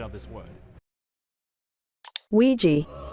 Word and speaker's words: Ouija: data analyst expert to give us the proper pronunciation of this word Ouija Ouija boards ladies and gentlemen these boards were named